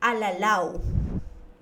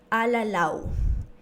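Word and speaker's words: alalaw: El primer ejemplo es alalau. Alalau. Esta palabra termina en una consonante W, que a la pronunciación esta reemplaza por una vocal U.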